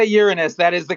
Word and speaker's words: Uranus: it's a quick thing and when you say uranus that is the correct pronunciation yes unless you're eight years old yes